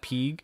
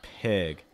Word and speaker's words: pig: Again, a short I sound. So it's not pig. It's more pig.